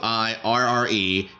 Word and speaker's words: Aguirre: So he's at Forrest Aguirre, Aguirre, just like it's spelled, right?